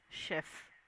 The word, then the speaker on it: chef: Only job that you need to know is this is chef. Do not mispronounce this word. This is the word, this word is called or pronounced as chef.